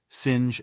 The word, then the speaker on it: singe: same way he was taught to pronounce ape singe and tree AR he was